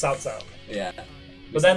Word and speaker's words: Cao Cao: Yeah, they pronounced it with how it was actually spelt on screen, not like what it's actually the pronounced. Chinese pronunciation of it. Because it's actually pronounced Cao Cao.